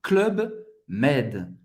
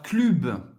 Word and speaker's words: Club Med: Club, você não vai falar clube. Dessa vez você não vai fazer o biquinho francês, porque acho que vem de uma palavra inglesa, então é club, club, aqui um clube, club med.